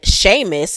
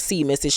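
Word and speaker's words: Seamus: taking a jog and sheamus thank you for the t-squad member who told me that i was saying his name wrong is not see mrs sheamus sheamus stops him sheamus then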